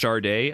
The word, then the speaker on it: Sade: Sade, pronounced Charday.